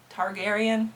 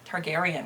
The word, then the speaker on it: Targaryen: F the targan Teragon Targaryen Targaryen I think is the right way to say that Dynasty uh from Game